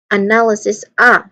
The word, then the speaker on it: analysis: Pronunciation wise, we have analysis. It's a schwa sound, and then followed by null with a nasal sound N and an L sound. And then another schwa sound, excuse me for that. And we end it with cis, where it has a short E sound here, and followed by an S sound, and another S sound.